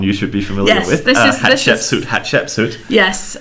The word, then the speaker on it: Hatshepsut: Hatshepsut. Yes. When I wrote my book many, many years ago, I used the CH, Hatshepsut. They pronounce the same.